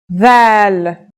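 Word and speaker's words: ذال: This letter's pronunciation is a voiced sound, the, as in this or that. It's pronounced with the tongue between the upper and the lower teeth.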